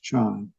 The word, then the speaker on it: Chan: Actually, both Zen and Chan are Chinese pronunciations, but the primary Chinese form of pronouncing the word is Chan.